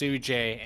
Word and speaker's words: Sujay: It's pronounced Sujay, and I apologize.